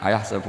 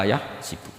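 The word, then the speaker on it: أيحسب: Tapi guru-guru kita kalau ngajar fikih itu bacanya yahsibu. Tapi kalau baca Quran yahsabu. Ya kan Quran kita kan ayah sabu Allah yaqdiru alaihi ahad, bukan dibaca ayah sibu.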